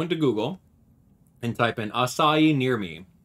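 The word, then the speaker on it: açaí: Google and type in assai near me it's spelled AC AI it's not a Kai yeah Brazil I wish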